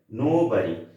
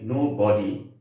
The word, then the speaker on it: nobody: এখানে দেখুন আরেকটা ওয়ার্ড আমি দিয়েছি, সেটা হচ্ছে নো বাড়ি। কেউ যদি ঠিক একইভাবে আমরা যদি বলি নো বডি, উচ্চারণটা সঠিক নয়, ঠিক আছে।